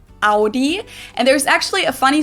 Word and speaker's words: Audi: I'm right up Audi in German we say Audi Audi and there's actually a